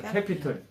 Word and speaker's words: capital: 예, 그래서 캐피털. 그래서 근데 원래는 캐피털인데 한국말로는 캐피탈이라는 단어를 많이 써요. capital. 캐피탈이 우리 발음은 캐피털이에요. 뭐 금중 이럴 때 캐피탈 하는데 진짜는 캐피털.